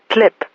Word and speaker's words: TLP: actually his TLP file, which he pronounced clip.